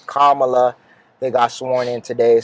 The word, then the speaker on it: Kamala: there and biden and kamala did i say your name right kamala it's calm you say comma and allah karma allah i think it's my